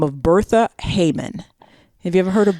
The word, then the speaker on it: Heyman: So Bertha Heyman, and that's Heyman. I believe I'm spelling that, pronouncing that correctly. But so the Heyman that I was talking about is spelled vastly differently. Okay. So just saying. So this is like, hey, man.